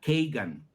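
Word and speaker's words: Kagan: marido es uno que se apellida kean Bueno lo dije en inglés se escribe k a g a n Si tú te vas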